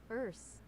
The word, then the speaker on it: Erse: How do you pronounce it then? Or does he just mean the words in the language? It's Erse.